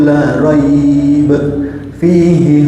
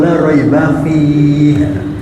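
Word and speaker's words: لا ريب فيه: Karena dia mendasarkan bacanya dengan biasanya. Betul atau tidak? Kan biasanya bukan di situ, Ustaz. Kan gitu ya. Biasanya kan dzalikal kitabu la raiba fihi. Ya itu biasanya, tapi kan mosok belajar cuma biasanya toh.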